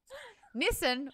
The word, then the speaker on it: Nissan: Nissan rhymes with listen.